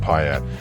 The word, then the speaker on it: Pontiac: Like only a classic Pontiac, pronounced Piat, can this 1967 Grand Prix convertible is more than just a pretty face.